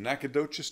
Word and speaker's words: Nacogdoches: Again, this is coming to you from Guitars in Nacogdoches, Texas, and that's how you say it.